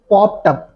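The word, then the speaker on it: popped up: पॉप्ड अप। ठीक है? वहां लाइक डी की साउंड नहीं निकल रही थी।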